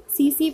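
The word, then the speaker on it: tsetse: सी सी फ्लाई, इसको टी लिखा रहता है, इसको टी आपका क्या होता है, साइलेंट होता है, आपका सी सी फ्लाई होता है, ये आपका क्या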